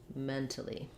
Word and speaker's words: mentally: So we have first syllable stress. The beginning is just like the word men. It has the red tent vowel. The letter A is going to be unstressed and short. It's going to sound like vowel schwa. And then finally we have li at the end. So it just sounds like mentally.